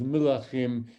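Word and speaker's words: מלכים: It's almost the same, just a slight difference in the vowel at the beginning, which I hope you could hear in my pronunciation.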